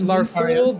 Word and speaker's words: Larthul: Larthul. Arthur with an A. Okay. Larthul, like L-A.